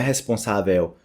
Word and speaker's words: responsável: E olha só, responsável. Não é responsável, responsável. Tem esse pico, né, no ar. Responsável.